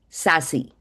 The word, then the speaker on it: SASE: Gartner saw this and coined a new category, SASE, sassy. Sec- access service edge, pronounced as SASE.